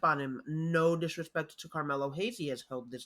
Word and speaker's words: Carmelo: there is an R in that. You said Camilo. Oh, I'm sorry. I thought I said the name correctly and I went way past it. Carmelo Hayes.